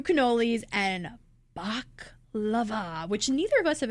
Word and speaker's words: baklava: 2 cannolis and baklava, which neither of us have ever had.